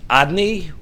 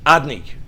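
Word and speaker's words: אֲדֹנָי: It's pronounced Adni, although it's written Yud-Kei Vov-Kei, we don't pronounce it as it's written. The pronunciation is as if it would be written Aleph Daled Nun Yud, but we don't pronounce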